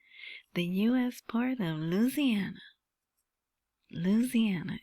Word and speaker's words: Louisiana: Louisiana, isn't that how they say it? Louisiana is how someone from California might say it. Louisiana. But I think people in Louisiana say it that way.